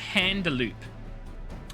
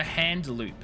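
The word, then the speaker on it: Haurchefant: Make your preparations and inform Sir Handaloop. Yes, Sir Handaloop. I know that's not how it's pronounced. It's Handaloo.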